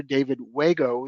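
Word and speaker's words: David Uejio: Acting Director David Wago is the way that is pronounced.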